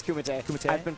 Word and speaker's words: Kumite: No, it's Kumite. Kumite? I've been pronouncing it wrong for like at least a year.